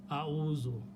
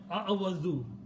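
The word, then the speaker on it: أعوذ: A'udhu. Very easy, a'udhu. Instead of a'awadhu.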